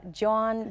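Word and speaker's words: jawn: for you because it's it's a Philly word uh John J A WN is like pass me that John over there or I went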